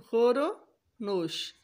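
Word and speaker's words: خورد و نوش: तो खुर्द नोश, दाल इसमें से साइलेंट हो जाएगी, दाल आएगी ही नहीं, नहीं आएगी, तो खोरो नोश।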